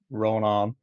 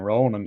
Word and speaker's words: Rónán: And it's been funny as well because it took a long time for me to introduce myself as Ronan Mhm. rather than Ronan, even though it's a slight change of pronunciation.